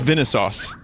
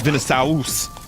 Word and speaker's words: Vinesauce: It's Vinesauce. Or you can go, you know, real pronunciation, which is Vinesauce.